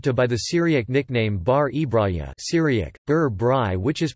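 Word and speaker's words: ܒܪ ܥܒܪܝܐ: was often referred to by the Syriac nickname Bari Braga Syriac Dirar bry which is pronounced and often transliterated as bari bro in the West Syriac dialect of the Syriac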